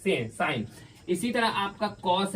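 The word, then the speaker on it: sin: देखो इसको एक्चुअली में सिन पढ़ते हैं लेकिन साइन इसको प्रोनाउंस करते हैं सभी साइन।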